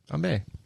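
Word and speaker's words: bombe: Hey, Bombay.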